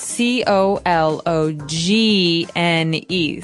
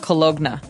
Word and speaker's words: cologne: ends with uh it it's spelled c o l o g n e so you don't really say the g it's not cologna right it's cologne and it's something that